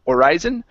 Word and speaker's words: horizon: the word uh Horizon make sure to pronounce the h instead of horizon horizon horizon okay very good and